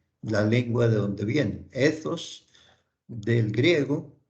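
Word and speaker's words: ἦθος: Bien pronunciado, hay que pronunciar esa TH como si fuera una Z española, ¿cierto? Z. Entonces diríamos ethos.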